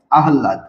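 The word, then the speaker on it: আহ্লাদ: আছে ব্রাহ্মণ তারপরে দেখেন আহলা শব্দের উচ্চারণটা দেখেন হ এবং ল এবং হল থাকার কারণে কি হবে ল এর উচ্চারণ আগে হবে আর হ এর উচ্চারণ পরে হবে হ এর উচ্চারণ কি হবে পরে হবে আহলাদ ঠিক আছে তো আমরা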